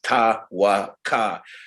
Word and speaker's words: Tawaka: It's Roseanne's huna, which is ta-wa-ka. It's spelled T-A-K-A.